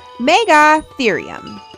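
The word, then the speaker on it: Megatherium: Meggathereum.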